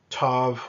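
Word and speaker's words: ת: the T sound and the Tov with out the doggish some would say that it makes a soft th sound but we don't necessarily need to make any distinction here we will just say it makes a T sound thank you for signing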